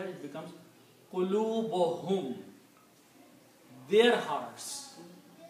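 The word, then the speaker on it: قلوبهم: If we combine them, then the way they are pronounced, 2 dhammas are not pronounced here. It becomes qulubuhum. Their hearts. Qulubuhum.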